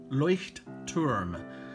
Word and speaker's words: Leuchtturm: my leuchtturm journal yeah it's pronounced leuchtturm or leuchtturm journal and uh i said